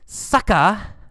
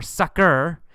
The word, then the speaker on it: sucker: beat you and then sucka sucka or sucker two pronunciations sucker or sucka that's uh it just